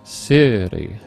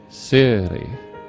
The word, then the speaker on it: Siri: And then when we go to Siri, it's the first syllable that's emphasized, Siri, Siri, Siri.